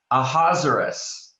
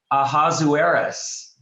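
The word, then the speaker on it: Ahasuerus: one uh his uh his name in the in the story in hebrew is a hazaris that's one of two ways we pronounce it in english a hazaris i think of lazarus a hazaris or a hazuris a hazuris so if you can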